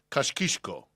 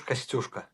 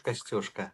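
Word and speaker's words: Kościuszko: and you're going to have to excuse me, Kashkishko. Am I pronouncing that correctly? Tadeusz Kashkishko? Tadeusz Kostyuszka. Oh boy. Tadeusz Kostyuszka.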